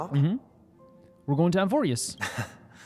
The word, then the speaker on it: Amphoreus: We're going to Amphorius.